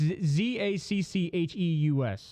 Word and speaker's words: Zacchaeus: It's Zaccheus.